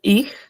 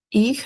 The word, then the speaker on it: ich: Ya, tenemos en primera persona singular, ich, Ich es con una J suave. Ich.